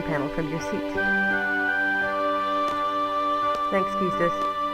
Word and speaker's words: Quistis: Thanks, Keistis. I do pronounce it Quistis, by the way. I think some people say Quistis, but oh well.